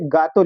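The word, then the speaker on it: gato: जैसे अगर जी के बाद ए आ गया तो उसको हम लोग गा का प्रोनाउंसिएशन करेंगे। जैसे एग्जांपल में देख सकते हैं यहां पे गातो लिखा है।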